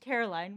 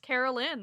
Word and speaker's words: Caroline: As an expert on being named Caroline, what insight can you give us into Caroline Bingley? It's not pronounced Carolyn. That's what I got.